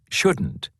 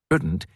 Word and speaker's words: shouldn't: Can't and shouldn't. Part A. Listen and practice these statements. Notice how the T in can't and shouldn't is not strongly pronounced.